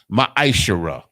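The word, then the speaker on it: מעשר: You can find this in Numbers 18 and 21 and Malachi chapter 3, verses 8 through 10, means 10th in the Hebrew and is pronounced ma'ashara.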